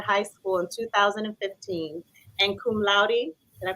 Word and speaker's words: cum laude: Hilda graduated salutatorian, number 2 of 670 plus students from Proctor High School in 2015, and cum laude, did I pronounce that right?